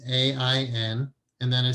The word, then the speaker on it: Ain: It's not Ayin, it's Ain.